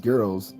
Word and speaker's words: gyros: folks Gyros pronounced Euros no it's it's it's pronounced geros the reason I notic this because when I lived in the midwest that's how everyone pronounced it giros and so I actually asked a Greek guy